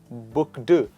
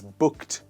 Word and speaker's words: booked: to let you know the ed here is pronounced as tur it is not book do it is booked so let's say together booked into something else